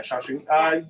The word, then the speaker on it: Shaoxing: How do you pronounce Yeah, Shaoxing.